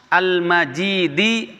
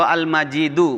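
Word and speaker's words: المجيد: Dzul arsy, yang memiliki arash, al-majidi, atau al-majidu, boleh bacanya.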